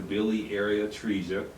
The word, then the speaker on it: biliary atresia: You're bringing awareness to biliary atresia.